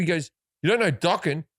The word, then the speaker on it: Dokken: He goes, you don't know docking? It rhymes with rocking.